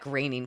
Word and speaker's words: Groening: Yeah, Matt Groening. Come on, you don't even know that? Jeez. Rhymes with complaining.